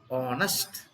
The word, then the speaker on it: honest: Because the word honest should be pronounced as honest.